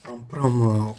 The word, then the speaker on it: Pram: Effectivement, et vous avez bien prononcé Pram au Ghana.